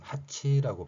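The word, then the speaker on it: 八: 자, 8이라는 한자어 8이라는 숫자가 일본인들은 하치라고 발음을 합니다.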